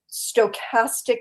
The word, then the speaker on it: stochastic: I mispronounced it. It's called stochastic intimidation, and it's a way to call up a mob and create intimidation without directly saying, go get her.